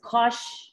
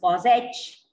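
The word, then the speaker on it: cosh: is hyperbolic h so you can pronounce it as kosh some people pronounce it as cos h or some simply say cos hyperbolic anything let's for this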